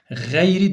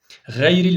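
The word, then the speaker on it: غير: kalın diyeceğiz değil mi gayril o zaman kalın bir harftir gyri demeyeceğiz buna diyeceğiz arkadaşlar gayril mağdubi dersen sırıtır fe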